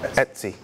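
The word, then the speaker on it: etcd: server scheduler and etc tell you pronounce it Etsy isn't that a company okay so Etsy but that box belies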